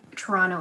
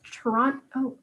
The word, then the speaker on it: Toronto: toronto no trump but the t at the last t is silent it's like toronto toronto toronto like t-r-o-n-o yeah